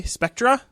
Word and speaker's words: Spectre: bit of talk about Spectre or as you Americans say Spectra uh and we'll do